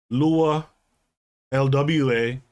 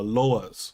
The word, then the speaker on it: lwa: you're pronouncing it right the haitians say lua lwa but when you uh anglicize it it sounds like uh lois okay the problem perspective